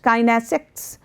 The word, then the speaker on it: kinesics: The study of body language is also known as kinesics, pronounced kinesics, which is derived from the Greek word kinesis, meaning motion, meaning some kind of action.